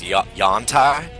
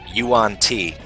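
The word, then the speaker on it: yuan-ti: I thought it was Yantai, and then I was listening to an audio version of a Forgotten Realms book, and they pronounced it Yuan T.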